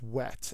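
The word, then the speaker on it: whet: a tough one to explain the word is wet and it's wet with an H um but pronounced the same way as we t uh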